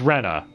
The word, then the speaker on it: Rena: all right damn it rena should be said as rena in english same with rika alright just saying not dica lika lena denno whatever the